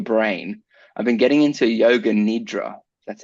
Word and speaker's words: Yoga Nidra: parts of your brain I've been getting into Yoga Nidra that's how you say it oh yeah so